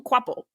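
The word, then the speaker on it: Kvapil: in the commentary, but his last name is has a V in it. We're not really getting any V sounds when we say quaple.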